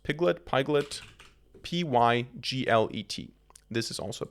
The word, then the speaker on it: Pyglet: you need to also install, how is this pronounced? Pyglet, P-Y-G-L-E-T.